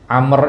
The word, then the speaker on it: Amr: kemudian ada kebalikan orang namanya Amr Amr itu setelah rnya ada wau ya tapi dibaca enggak waunya enggak Nah maka para ulama